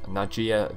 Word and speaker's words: Nadjia: ven fear now we have the character called nadjia the mist blade that's how you pronounce it and the reason for this is